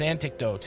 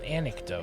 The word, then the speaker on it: anecdotes: mood Mesto and his antidotes antidotes anic an anec you're still saying it wrong I'm still saying it wrong anecdotes anecdotes anecdotes well it sounds like anecdotes though think Anakin no I try not